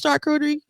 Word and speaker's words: charcuterie: But I think it's charcuterie.